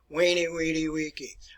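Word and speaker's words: veni vidi vici: the future it's uh v e n e v i d i v i c i but it's pronounced as a w weenie weedy i came i saw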